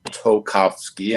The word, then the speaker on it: Tolkowski: my name is tolkowski and as i used to pronounce to my immigrant students toe like on your feet cough like you have a cold and ski like you're going down a mountain um i guess with